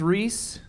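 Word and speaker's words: Rhys: name Davies Davies yeah in English it's Reese like fleece mm-hmm in Welsh there is no English equivalent yeah we can't pronounce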